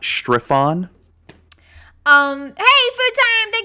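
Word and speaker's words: Strefan: it's on yeah s-t-r-e-f-a-n it's still stefan though that wizards correct your okay it's stefan mar progenitor not strife-on um hey food time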